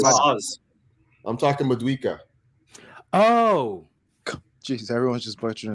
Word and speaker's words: Madueke: It's Madueke.